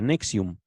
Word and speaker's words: NXIVM: Se escribe la secta, el nombre de la secta, NXIVM, y se pronuncia Nexium.